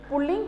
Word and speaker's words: पुल्लिंग: ऐसे बोल देते हैं, लेकिन इसका सही उच्चारण है पुल्लिंग। इसमें रे का साउंड कहना है तो इसमें कोई मात्रा है नहीं, इसमें साउंड आना चाहिए। कई मोस्टली लोग पुल्लिंग बोलते हैं, लेकिन यह एकदम रॉन्ग है।